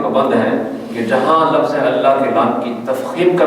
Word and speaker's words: اللہ: ضرور اللہ کرواتے ہیں، تو اللہ کے اگر خالی اللہ اونچی آواز تو یوں ہو اللہ، یہ غلط ہے تلفظ، اللہ اس کا تلفظ ہے۔ اور آگے اس کی